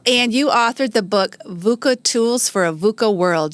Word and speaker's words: VUCA: Michelle um and and you said it right vuca right so sometimes people even stumble over you